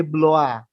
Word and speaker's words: Blois: Ada Steven de Bloa atau tulisannya Blois bacanya bloa. Nah, itu bahasa Prancis kan sekalian.